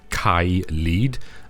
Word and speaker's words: Caelid: I think most people will pronounce this as Caelid. When I first saw this area and I saw the name, if you split these two words apart and pronounce them in the Welsh way, it's Caelid, and that literally means